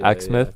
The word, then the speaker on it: Exmouth: And you're from Exmouth, is it pronounced? Exmouth. Yeah, Exmouth.